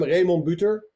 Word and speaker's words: Remon Buter: Yeah, I said I'm Remon Buter, which pronounced of course in Dutch.